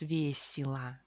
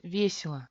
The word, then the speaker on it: весело: Al final tenemos весело. Y se convierte en I o se convierte en A. Parece que tenemos otra palabra, pero no. Simplemente relajamos la boca y pronunciamos весело, весело.